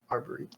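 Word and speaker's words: Arboliva: And then when it evolved into Arborella, or how you pronounce it, I believe. yeah, Arboriva, yeah.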